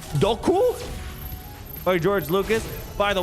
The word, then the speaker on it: Dooku: For example, did you know that Dooku was actually pronounced Doku?